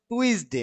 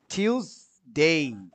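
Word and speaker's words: Tuesday: ভেঙে তো বললাম সানডে সানডে, মানডে মানডে, আমরা যেটা পড়তাম টুইসডে হ্যাঁ এটা পরিবর্তন হবে টিউসডে টিউসডে, ইউজ না টিউসডে ডে, আপনি বলেন দেখি মিজানুর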